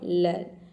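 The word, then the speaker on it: learn: लर्न में EA को हम अ प्रोनाउंस कर रहे हैं, तभी इसका प्रोनाउंसिएशन हो रहा है लर्न।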